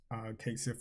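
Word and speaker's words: Cait Sith: In Final Fantasy VII Rebirth, Kate Sith is pronounced Kate. Sith.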